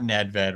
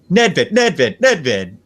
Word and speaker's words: Nedved: By the way, you got Nedved wrong, and this is a total video game nerd joke, but it's pronounced Nedved, just because the old NHL 97 commentary would always glitch on his name.